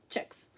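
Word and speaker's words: kjeks: How in the world do you pronounce K-J-E-K-X? Or no, K-J-E-K-S, like Chex.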